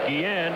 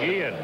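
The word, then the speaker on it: Guillén: How are we going to pronounce that? Guillen. Julio Constable says Guillen. Julio Constable says Guillen. Yes, so I have to quit saying Guillen.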